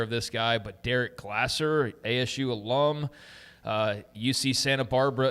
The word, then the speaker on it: Glasser: So Derek Glasser, and I just thought maybe it's Glazer. I don't know exactly, but Derek Glasser is how you pronounce it out.